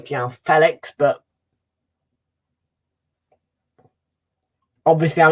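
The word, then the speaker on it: João Félix: João Felix, of course, you know, made it clear that we are pronouncing his name wrong and it's João Felix, but obviously I'm not going to remember that.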